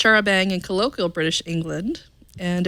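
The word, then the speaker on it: charabanc: an early form of bus wikipedia says it's pronounced Shara Bey and colloquial British England and it was an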